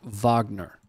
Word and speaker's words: Wagner: me out with this it's spelled wagner for my you know dumb american brain and mouth but my understanding is it's pronounced wagner would that be accurate i'm gonna check in